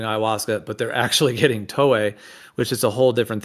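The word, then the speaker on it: toé: So there's another plant called tolli. It's called tolli.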